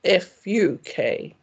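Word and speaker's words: vak: English speakers for example V is always pronounced as f and the short a vowel is said as in ah pass so the word for a subject such as geography is v a k but pronounced f u k Hamish whom I discovered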